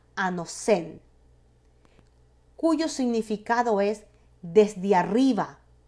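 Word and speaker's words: ἄνωθεν: Ahora, la palabra nuevo es una traducción de la palabra griega que se pronuncia anosen, cuyo significado es desde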